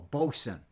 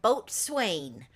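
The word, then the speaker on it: boatswain: and throwing the bosen we call him a bosen but BOS is it looked like it's spelled boat Swain but it's really bosen and they tell you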